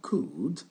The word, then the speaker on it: could: Donc, n'oubliez pas, on ne prononce pas le L. On a could ici.